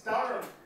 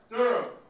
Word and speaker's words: Durham: I mean, it's Durham in the UK. It's Durham.